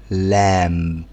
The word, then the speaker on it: lamb: لامب لامب لامب لامب والبي ده ما بنشد عليه قوي لان هو في الغالب ما بيتنطق بصوت واضح اختها بالظبط اللي هو الخروف الصغير لام والبي ما بتتنطق كانت بتتنطق زمان في الميدل انجلش محدش هيعرف ايه الميدل انجلش بس المهم كان بتتنطق زمن وما بقتش تتنطق بس هم ما شلوش الحرف سابوه زي ما هو فهي فهي فهي لام